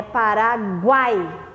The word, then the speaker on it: Paraguai: que prestar atenção em relação à que a pronúncia tá nesse caso a palavra paraguai é paraguai eu não tenho como falar para google ai